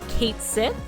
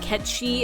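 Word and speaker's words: Cait Sith: plush mugal as a quick aside some people pronounce his name Kate Sith because that's how it's spelled phonetically but my understanding is that Ki is more accurate to its Scottish Origins and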